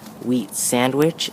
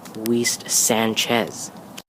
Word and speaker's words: Weist Sanchez: He accidentally said Wheat Sandwich instead of his real last name, Weist Sanchez.